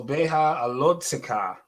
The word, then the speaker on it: Beha'alotcha: We can see the alot, and then we have to pronounce that letter after the tet. Alot zikha. Alot zikha. All right. So beha alot zikha.